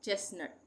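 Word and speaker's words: chestnut: यह यहां पे ये वाला टी साइलेंट हो जाएगा। चेस्ट नट। ये यहां पे मैंने रेड रेड कर दिया। इसका उच्चारण होगा। यहां पे नहीं होगा उच्चारण। चेस नट।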